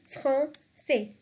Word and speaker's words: français: Again, the accent is important here, so the pronunciation will be français, français.